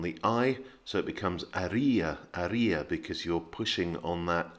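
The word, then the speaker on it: Haría: the first is that the h is silent in most spanish words as it is in french so you don't pronounce the h you don't say our harrier and the second is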